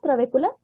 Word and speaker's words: trabécula: ¿Son las trabéculas? Exacto. Entonces ahí hace falta. Por favor, ¿lo puedes escribir, Dulce? La estructura morfofuncional es la trabécula. Con acento en la E. La trabécula.